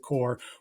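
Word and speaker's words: Kerr: It looks like Zack Curr is probably calling Zack Core, excuse me, that's how he pronounces it. Core will be calling plays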